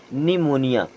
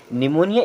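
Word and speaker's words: pneumonia: हुआ भी हो अब निमोनिया की स्पेलिंग होते है पी एन ई यू एम ओ एन आई ए यहां पर पी होता है साइलेंट उसी प्रकार यहां पर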